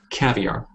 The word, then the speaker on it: caviar: yeah one more time caviar caviar yeah there you go there you go that's it so it's very much you know caviar three sounds there for that word so I was I